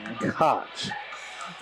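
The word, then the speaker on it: Tkacz: so we'll see okay like americots cops okay that's interesting interesting cut t-k-a-c-z obviously the T silent so Koch okay well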